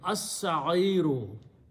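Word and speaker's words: السعير: Al sa'iru, but seen is a shamsi letter, so lam will not be pronounced. So it will be as-sa'iru, the blazing hot.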